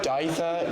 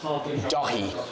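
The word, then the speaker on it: Dáithí: Dya is incorrect. It is the Irish name for David and it is Dahi.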